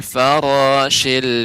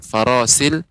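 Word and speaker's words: الفراش: Kal farashil mabthus. Silakan Bapak diulangi. Yawma yakunun nasu kal farasil mabthus. Ya, coba Pak ucapkan huruf shin masih belum tepat ya. Masih seperti farasil.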